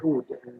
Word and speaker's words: oud: We call it oud. They spell it OUD, sometimes AUD.